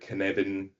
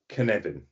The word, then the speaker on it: Cynefin: That's Cynefin. So it's a Welsh language word.